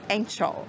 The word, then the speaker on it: Ancol: It's written with C, but the pronunciation is ch, like Ancol.